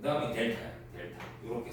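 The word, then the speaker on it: Δ: 이거는 그리스 문자인데 델타라고 읽어.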